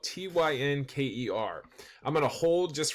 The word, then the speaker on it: Tynker: It's spelled Tynker.